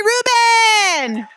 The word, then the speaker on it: Rubin: Uh Terry Rubin, his last name uh sounds like the Reuben sandwich.